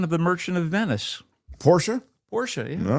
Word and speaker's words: Porsche: Mark, you do pronounce Porsche with the uh at the end. It's Portia. I confirmed and I'm trying to be a better person.